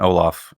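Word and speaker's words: Ollam: Anything you said, mentioned Deviant Olaf. You actually say his name with an F at the end.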